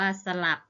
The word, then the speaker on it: สลับ: อ่าน ว่า สะ นัก เรียน จะ เห็น ว่า คำ คำ ที่ คุณ ครู อ่าน เมื่อ กี้ นะ คะ ออก เสียง อะ หมด เลย นะ คะ คะ ด้าน หน้า นะ คะ แต่ ออก อะ ครึ่ง เสียง นะ คะ ออก เสียง อะ กึ่ง เสียง แต่ ไม่ มี รูป